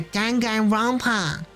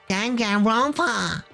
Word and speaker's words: Danganronpa: Yeah, Danganronpa. That's how you say it, isn't it? The filthy creature. No, I just thought... I know what you just thought. What are you laughing at, big brother? I'm saying it correctly. Danganronpa.